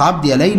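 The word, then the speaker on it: عبد ياليل: فلما توجه إليهم ومعه مولاه زيد بن حارثة قابل رؤساءهم، وكانوا ثلاثة عبد يليل، وهي تنطق عبد يليل، ويعني بعض الناس يكتبونها عبد يليل، ومسعود وحبيب أولاد عمرو بن عمير الثقفي.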